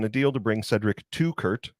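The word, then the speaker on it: Teuchert: Louis City SC are closing in on a deal to bring Cedric to Kurt. So like if you have two guys named Kurt, that's how I'm going to remember how to say it.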